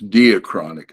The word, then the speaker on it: diachronic: There's one that's, and they say diachronic, but it's not diachronic. It's Greek. It's diachronic.